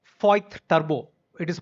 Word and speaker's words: Voith: Jan 22nd, I got onboarded into this organization by name Voith Turbo. It is pronounced as VOITH TURBO India Private Limited.